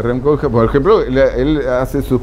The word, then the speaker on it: Rem Koolhaas: Bueno, hay autores, Rem Koolhaas, se pronuncia Rem Koolhaas, por ejemplo, él hace sus papers sobre sus propias obras.